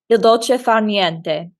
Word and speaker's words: il dolce far niente: yes, way pronounce it. Il dolce far niente.